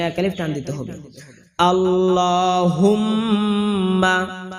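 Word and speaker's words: اللهم: এ কারণে এখানে এক আলিফ টান দিতে হবে আল্লাহুম্মা হা মিম ধরতে হবে এবং গুনা করতে হবে আল্লাহুম মা কোন টান হবে না।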